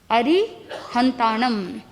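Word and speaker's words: अरिहंताणं: बहुत से लोग न लिखते हैं, न नकारात्मक होता है, लेकिन अगर ण जो नासिका से शब्द उच्चारण होता है, ण सकारात्मकता प्रदान करता है, ऊर्जा को और शुद्ध बनाता है। तो आगमों के अंदर, प्राकृत के अंदर आप देखोगे कहीं पर भी न नहीं है।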